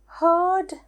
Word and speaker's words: herd: herd කියන එකට bird වගේ pronounce වෙන්නේ herd, bird.